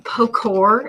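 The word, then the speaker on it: pochoir: called postwar printing um pocor if you're from missouri or just stencil that could be what it is but this is how you say it in french i think i'm saying that right and i think what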